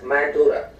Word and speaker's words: Mandara: nigerian border are the mandara mountains it is pronounced in english as mandurah this word itself is